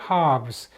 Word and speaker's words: halves: 그러니까 하나를 반으로 쪼개면 half, 복수로 halves. 이게 L 발음은 않죠. 그러니까 이쪽에서 그만두거나 이쪽에서 그만두거나 done by halves.